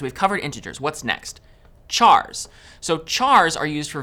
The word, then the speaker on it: char: covered integers what's next chars so chars are used for variables that will store single characters chars short for character and sometimes you might hear people pronounce it as car so characters always take